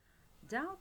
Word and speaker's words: doubt: Doubt is a verb, and take care that doubt, the be here is silent.